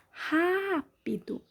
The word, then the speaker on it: rápido: Rápido. sílaba mais forte é o Rá, som aberto, acento agudo.